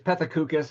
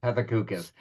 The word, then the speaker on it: Pethokoukis: It's Pethokoukis, and that pronunciation was in the correct area code or zip code, so that's totally fine. Pethokoukis.